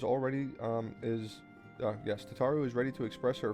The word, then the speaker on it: Tataru: I dread to think eek eek tatu or tataru. I keep forgetting how to say it. It's tataru though.